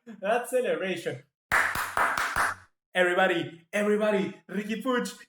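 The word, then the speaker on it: Puig: you don't know guys it took me ages to learn how to pronounce pooch because it doesn't sound like it you know it's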